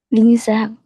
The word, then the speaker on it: Linh Giang: Lin? Linh Zhang. Okay. Do you have a nickname? Zhang. Okay. Is there a other name you want me to call you? Okay, can I call you Lin?